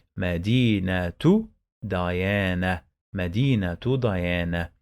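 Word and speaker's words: مدينة: end medina bait okay we don't pronounce the marbuuta we pronounce it like ah when we pause on the last letter look i say medina medina medina where the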